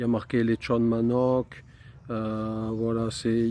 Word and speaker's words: manok: Le mot du jour, c'est manoc. Alors manoc, ça s'écrit M A N O K et ça veut dire poulet.